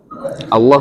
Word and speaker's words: Allah: Bukan Bapak kan sudah biasa baca Allah pakai tasdid. Kalau di sini kan enggak ada tasdid. Jadi Bapak bacanya Allah saja. Tetapi penggunaan kata Allah di dalam kitab mereka